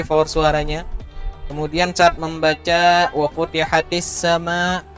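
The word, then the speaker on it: وفتحت السماء: Kemudian saat membaca wa futihatis sama, nah itu ya hati-hati bacanya tadi ke ha. Wa futihatis sama, ya kayak kada sadar memang biasanya, tapi lebih diperhatikan lagi ya. Kalau kita terbaca ke ha berubah artinya.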